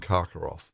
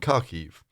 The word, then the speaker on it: Kharkiv: so for me it was always kiev and karkarov uh which i you know the the guy